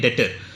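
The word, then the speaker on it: debtor: Person को कहते हैं डेटर. स्पेलिंग के में DEBTO आ रहा है, इसे बोलने में डेटर कहते हैं.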